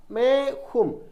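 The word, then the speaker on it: मैं: പറയണം സൗണ്ടിൽ ചെത്തി കളഞ്ഞാൽ മതി നമ്മുടെ സ്വരം എടുക്കുമ്പോൾ ഉണ്ടല്ലോ മേം എന്നുള്ളതിന്റെ എം ചെത്തികളയണം ഈഇത് ഉച്ചാരണത്തിൽ വേണ്ട ഏത് ഈ ഇവിടെ ഒരു കുത്തുണ്ടല്ലോ അതിന്റെ ഉച്ചാരണം വേണ്ട മേം എന്ന് പറയണ്ട മേ എന്ന് പറഞ്ഞാൽ മതി ഏക്ക് എന്നുള്ളതിന്െ ഏക്ക് ഫുൾ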